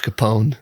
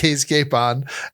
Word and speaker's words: Capon: I've been calling him Josh Capone. Oh god. Like Al Capone. Yeah. Yeah. So he's Cape on.